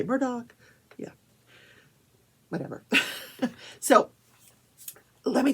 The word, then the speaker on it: Murdaugh: say Murdoch well it it's spelled m-u-r-d-o-u-g-h so it looks like murder but it's pronounced Murdoch but if you're from South Carolina you just say murder and Alex which is